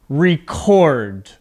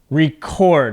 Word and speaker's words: record: everyone later this afternoon so as a verb record record okay my voice goes up at the end record now another way